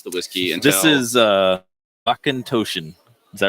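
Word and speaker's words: Auchentoshan: This is Akintoshin. Is that right? Yeah, pretty much. You got to say it like Akintoshin.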